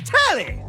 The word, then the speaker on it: Telly: The name's Telly. Rhymes with Nelly, like, whoa, Nelly!